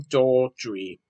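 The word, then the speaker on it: Daldry: movie directed by steven draw drawdry daughtry which is spelled d-a-l-d-r-y stephen daltrey and this is from bleacher street media bbc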